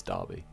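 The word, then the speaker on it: Derby: Dobby been destroyed okay basically Darby anyway spells in a funny way but is Darby okay so we're gonna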